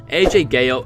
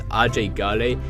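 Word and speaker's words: Ajay Ghale: who they actually are AJ Gil pronounced by the locals of kirat as RJ gy is a 20-year-old man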